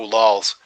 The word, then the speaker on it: lol: say lol come on go lawls law law is the pronunciation it's the transliteration of an acronym i guess i don't know yeah